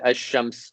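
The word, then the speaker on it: الشمس: For example, when there's alif and lam and it's the shamsi word, you just ignore the lam is written, but you just ignore it when you pronounce it.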